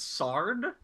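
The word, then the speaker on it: sward: a word somehow sorry the W is silent it's sard Define swad Google okay hang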